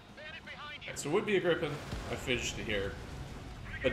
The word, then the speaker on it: Gripen: Ever since I heard Pixie fucking pronounce it as Rippin in Ace Combat Zero, I no longer remember the correct pronunciation. Unless that is the correct pronunciation, and I'm just... So it would be a Gripen.